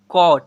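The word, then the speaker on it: caught: जी यू ji sorry C ए यू जी एस टी कॉट।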